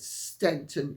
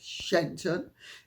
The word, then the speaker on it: Shenton: and may I say I I mispronounced the name the other day and said Stanton instead of shenton and for that I